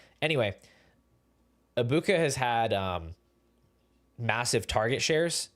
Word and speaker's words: Egbuka: He's had, similar to Ibuka, he's had a huge fall off in production, but unlike Emeka Ibuka, and by the way, I just learned that the G is not pronounced in Egbuka.